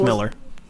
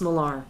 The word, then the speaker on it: Millar: His name's Miller. No, it's Millar. It's pronounced Millar.